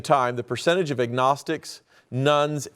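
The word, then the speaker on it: nones: At the same time, the percentage of agnostics, nuns, that's spelled N-O-N-E-S, atheists, and those who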